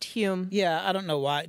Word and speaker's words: Home: It's spelled Home for some reason. Yeah, but it's pronounced Hume.